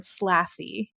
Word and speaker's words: SLATHY: was the impetus of me creating this word slaffy uh which you've heard me refer to a couple of times before that's spelled s-l-a-t-h-y and it's actually an acronym so